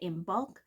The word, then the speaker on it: Imbolc: celebrated in spiritualism by imul which is spelled I am b o LC and this happens at